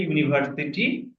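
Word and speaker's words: university: পুরোটার উচ্চারণ হবে ইউনিভার্সিটি।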